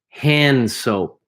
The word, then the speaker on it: hand soap: listen to the way I pronounce number 10. Hand soap. The D is almost silent. You can barely hear it. Hand soap. Hand Soap. Hand soap. Hand soap. Yeah, the D's there, but you're not really pronouncing it.